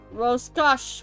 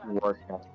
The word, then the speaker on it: Rorschach: Rorschach will reveal her... Rorschach. It's pronounced Rorschach.